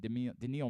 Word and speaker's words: Daniil: Carlos Alcaraz and Daniil Medvedev, pair of U.S.